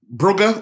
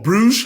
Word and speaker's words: Bruges: Obviously, Man City got the big win against Brugge, or Bruges, however you want to pronounce it.